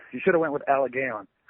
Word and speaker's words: Allegaeon: Haynes he is the vocalist from the band Alay gon pronounced it right didn't I close close uh one of the closer ones you should have went with aligon it's a Al yeah it's a legion a